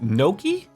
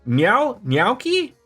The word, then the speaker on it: gnocchi: Now I need to get myself some chicken thighs and gnocchi?